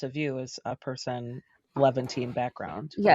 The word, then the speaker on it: Levantine: because of the silence of Shaherzide how to pronounce is it Levventine Leavant Levantine I don't know how to say it's Levventine but like that's how I read it.